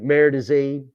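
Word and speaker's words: Marais des Cygnes: What was that battle out in Missouri, Merdazine, and it's French, and it's spelled nothing like it sounds.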